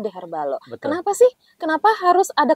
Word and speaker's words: Deherbal0: ini namanya tadi kan the herbal kosong penulisannya tapi dibacanya the herbalo Kenapa sih Kenapa harus